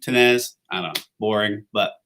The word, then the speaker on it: Tinnesz: name is tenez so you say tenez almost as if you ignore the s before the z so for what it's